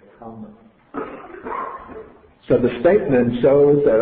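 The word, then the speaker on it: kamma: But what happens in Pali, because it was based on spoken languages, for ease of pronunciation, the R is assimilated to the M, so we get kama.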